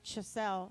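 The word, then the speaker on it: Schascle: It's like the game chess with an L after.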